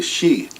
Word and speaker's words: Xi: But they call themselves the Shi. And in the spelling down there, that's spelled Xi, but it could be spelled SHI for that matter, the Shi.